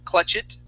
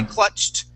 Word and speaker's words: clutched: here is press okay when we add an ed that sounds like a t okay remember here we went right to that t sound we did not say clutch it we say clutched we're going to do